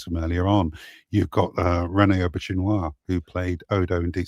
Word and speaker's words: Rene Auberjonois: You're the first person I've ever heard pronounce Rene Auberjonois. It's Rene Auberjonois.